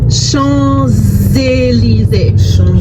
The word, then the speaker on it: Champs-Élysées: There's an S that you don't pronounce. When you link it together, you pronounce it. So instead of Champs-Élysées, we say, yes, Champs-Élysées.